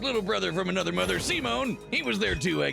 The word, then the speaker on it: Simon: Anyway, pronounced Simone.